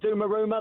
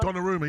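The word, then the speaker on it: Donnarumma: Just had a brilliant little altercation with I think the pronunci is it Dumaruma the goalie's pronunciation? Dumaruma. Donaruma.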